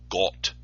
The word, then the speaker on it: Gott: Webster's New Collegiate Dictionary finds the origin of the word God from a Germanic word, God, pronounced as Gott.